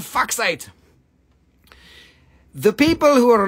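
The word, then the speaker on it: fuchsite: Rusty no no no it's foxite and the reason I say size because I can never remember how to spell it except when I remember that it is pronounced Fox 8 then I remember it is f-u-c-h-s-i-t-e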